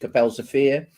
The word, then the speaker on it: Kapelsche Veer: about the Battle of Kapelsche Veer, and that's the correct pronunciation in Dutch, Kapelsche Veer.